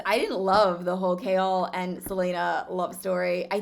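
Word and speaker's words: Chaol: love kale um also i always pronounce his name wrong i think it's kale i saw somewhere you say chaos and then you add an l which i guess that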